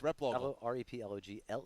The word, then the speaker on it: Replogle: but hey I love that it's r-e-p-l-o-g-e it's replogle yeah correct but yeah yeah I'm not gonna